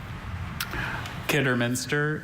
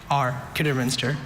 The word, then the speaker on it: Kidderminster: Kidderminster has no alternate pronunciations, just Kidderminster.